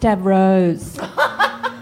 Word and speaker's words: Davros: I think you're pronouncing his name incorrectly, however, because all of the YouTube comments, I know this will trigger people, it's apparently pronounced Davros.